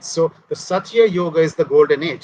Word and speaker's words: Satya: Satya, thank you.